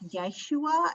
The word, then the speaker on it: Yeshua: it's a what we would call a y sound in hebrew so it's yeshua and elisha these are